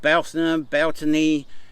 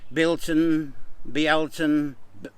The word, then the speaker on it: Beltane: We are really in that kind of season of Beltany, Bilton, Beltane, whichever way you'd like to pronounce it.